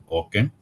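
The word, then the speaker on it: OCEN: another one is that o C that is pronounce as Oken that is open Credit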